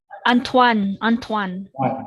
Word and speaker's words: Antoine: Tama po ba yung pronunciation ka sa names nila? Andito ba sila, sir? Antuin. Antoine. Okay. Antoine.